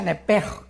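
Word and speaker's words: נפש: Se pronuncia nepej, porque la CH en hebreo es j, nepej, y la palabra espíritu es ruach, se escribe ruach.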